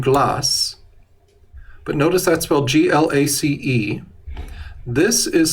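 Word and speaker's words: glacé: term glass in glass but notice that's well g-l-a-c-e this is spelled g-l-a-c-e accented gu that means that e is pronounced glace if you say ante glass you're talking about tea flavored ice cream is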